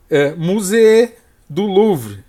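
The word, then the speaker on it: musée du Louvre: pictures just look for musee du louvre that's the French pronunciation of Louvre Museum here we have the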